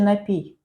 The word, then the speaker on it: напій: Де правильний наголос? Напій чи напій? Напій. На другому складі.